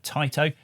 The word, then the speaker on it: Taito: That's right, I'm going with Taito as the pronunciation here. I know people say that a bit differently but I think that's quite close to the original Japanese.